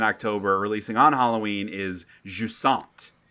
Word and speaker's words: Jusant: on Halloween, is Jusant, which is actually the T is silent. Jusant. I don't care. French bullshit. Hey, I took 2 full years of French, cheated my way through almost all of it, but I do know it would be pronounced Jusant.